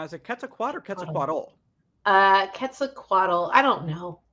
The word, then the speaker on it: Quetzalcoatl: Coatl is pronounced differently, so I get them mixed up sometimes.